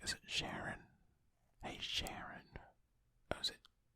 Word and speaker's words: Charon: The same surfaces of Charon and Pluto always face each other, which is known as mutual tidal locking. Am I pronouncing that right? Is it Sharon?